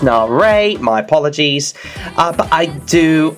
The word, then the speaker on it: Nare: Armenia, the hosts, but I must admit, Dance by Nair, or Nare, I think it's pronounced Nare, my apologies, but I do like this number.